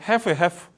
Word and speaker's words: half: That about half of help? help 아닙니다. L 발음 안 해요. half.